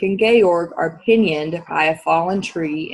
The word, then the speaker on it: Georg: Georg and Ulrich okay looks kind of like Ulrich some people might say that but our story takes place in Eastern Europe so the pronunciation is Georg and Ulrich okay all right when